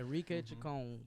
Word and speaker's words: Enrique Chacon: I'm joined by Peyton, Jonathan Fleissner, and Enrique Chacon. Am I pronouncing that correctly? Yeah, Enrique Chacon.